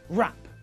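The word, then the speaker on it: wrap: And in the same way, we don't pronounce the silent W in these words either. Rap, write, wrestle, wrist.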